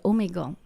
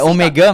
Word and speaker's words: Omegle: Ah, je l'ai pas bien prononcé. Ouais, Omega, non, Non, OK, c'est Omegle.